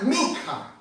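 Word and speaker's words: מנחה: hebreo, una palabra un poco bastante difícil de pronunciarla, pero es min con la K, minja.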